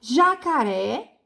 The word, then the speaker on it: jacaré: vamos lá é é o jacaré a última sílaba jacaré é a última sílaba é ré né então ela moxito mas ela está acentuada chimpanzé